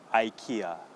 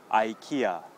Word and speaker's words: IKEA: ka EK ax so in english all you have to do is just change the first sound to I not e I and not K